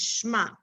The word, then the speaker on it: shema: now so sorry so i know that a lot of people know this word shma to hear shema or shema have you heard that you know when we say shema israel so some people say israel but actually the correct way to pronounce it is shema the word we say